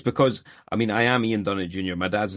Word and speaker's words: Ian Dunnett: Welcome to the show, Ian Dunnett Jr. How you doing, buddy? I pronounced that right?